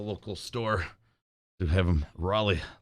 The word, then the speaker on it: Raleigh: Kale releg. I know it's Raleigh. Like I'm pretty sure it's pronounced Raleigh. My dad used to smoke Raleigh Lights 100s when I was a kid.